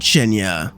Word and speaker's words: Cienie: That being the visual novel of Chenya, spelled like that because it's Polish.